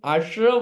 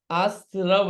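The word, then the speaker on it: आस्रव: कर देता हूं मैं यह आश्र नहीं है आसव है आसव अपन बोलते आश्र है य देखिए स लिखा है स आसव इसका उच्चारण अपन ध्यान रखेंगे सब लोग बढ़िया अच्छा है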